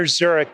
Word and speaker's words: Szurek: Walker Szurek, the S is silent, Zurich like Switzerland.